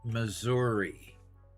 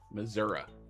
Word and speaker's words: Missouri: Pronounce it correctly. Missouri. Missouri.